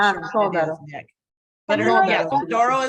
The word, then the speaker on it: Sodaro: In So- Sicily, Sodaro.